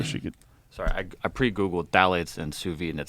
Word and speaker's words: phthalates: is a thing called phthalates. It's spelled with a P. P-T-H-P. Phthalates. I think I've seen that before.